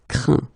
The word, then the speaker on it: craint: Okay, but then phonetically, as you know, you pronounce them the same. Craint, craint, craint.